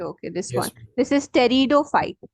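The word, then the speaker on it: Pteridophyte: this one this is Tero fight p t e r i d o Tero fight the p is silent okay e e e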